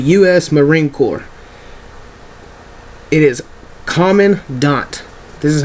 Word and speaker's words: Commandant: head of the US Marine Corps it is common D this is how you pronounce this guy's name the next one is